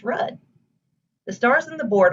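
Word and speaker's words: RUDDH: example the spelling of rudd r-u-d-d-h is pronounced red the stars in the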